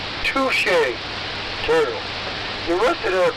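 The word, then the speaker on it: Touché Turtle: So we do agree that there's a Douche the turtle. No, we do not. It's Touche turtle.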